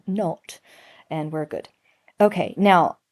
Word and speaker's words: naught: And the way we pronounce that is not. Um, so you need your like Downtown Abbey voice not come on come on pen not a u ght.